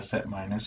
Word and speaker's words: set minus: tech uh legitimate terminology you can say uh set minus is how you pronounce that so this then span